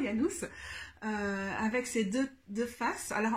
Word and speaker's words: Janus: Je ne sais pas, alors je vais le prononcer en latin, Janus, avec ses deux faces.